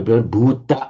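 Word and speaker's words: भूत: So bhut means somebody who, in Sanskrit, in Pali, bhuta and peta, in modern Hindi would be pronounced bhut and pret.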